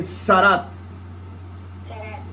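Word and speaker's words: tzaraat: Se pronuncia ahí Sarat.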